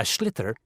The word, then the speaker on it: sliotar: This is what it looks like, and basically you have to get this ball, called a sliotar, that's S-L-I-O-T-A-R, so it's not spelt the way it's pronounced.